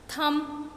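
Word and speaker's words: thumb: थम, your B is silent.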